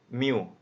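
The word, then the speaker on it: μ: x dikurang rata-rata, ini mu, ini bacanya mu dibagi standar deviasi dikuadratkan, dimana nilai x itu dari negatif tak hingga sampai tak hingga.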